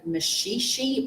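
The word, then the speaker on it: Maxixe: We can get some blue barrel that's termed mashishi barrel which is actually spelled with an X in there.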